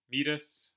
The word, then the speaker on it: Metis: But yeah, so Piggyman's up 1-0 on Metis, who should be pronounced Midas, but I refuse to do so.